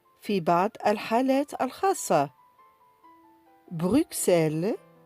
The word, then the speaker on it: Bruxelles: Bruxelles 6 10 60. Nous avons X qui se prononce S dans quelques cas particuliers comme Bruxelles 6 10 60.